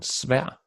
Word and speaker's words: svær: So vil or ved, hard V, and also when the V is placed after the K, as in kvarter, or after the S, as in svær, or after the H is silent, this.